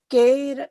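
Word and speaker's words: कैर्: And this is kair. Kair. Right. Kair It's not like cake, right? It's not Correct. like kair, right? Hmm. It is kair, right? Kair. A-I-O. Bade ek ki matra.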